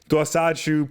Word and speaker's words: Dosachu: Dosachu, part Dawson, part Pikachu, Dosachu.